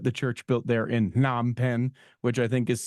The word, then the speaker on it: Phnom Penh: It's actually pronounced Phnom Penh.